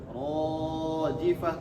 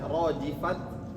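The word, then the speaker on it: الرَّاجِفَةُ: Rifah dua harakat saja, jangan rojifah terlalu panjang. Nah, ta ini dibacanya seperti ha besar kalau diwakafkan. Kalau di akhir. Betul. Kalau diwakafkan. Rojifah. Jadi jangan baca rojifat.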